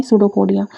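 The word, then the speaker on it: pseudopodia: सूडोपोडिया की spelling क्या है? पी एस ई यू डी ओ पोडिया। पी ओ डी आई ए है सूडोपोडिया।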